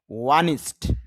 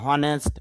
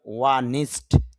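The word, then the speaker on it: honest: ওয়ানিস্ট, যদি আমরা হনেস্ট বা অনেস্ট এরকম বলি তো শুদ্ধ হবে ওয়ানিস্ট, সৎ।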